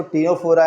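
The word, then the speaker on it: Ctenophora: टीनोफोरा इनकी बात करें तो इसमें सी साइलेंट रहता है, बोलते इसको टीनोफोरा है।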